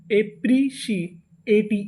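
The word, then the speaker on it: appreciate: है पी आर ई अगर आपको इंग्लिश में कहीं पर पी आर ई लिखा मिले तो हम लोग पी आर ई को पढ़ते हैं प्री क्या पढ़ते हैं प्री इसे हम लोग प्रे नहीं पढ़ते तो इतनी मीनिंग ए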